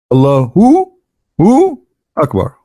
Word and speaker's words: Allahu Akbar: So when a Muslim, he says Allah, you notice he pronounced something. He say Hu Akbar, correct? Hu Akbar. But when they say it, but they don't write it. Hu Akbar. Allahu Akbar.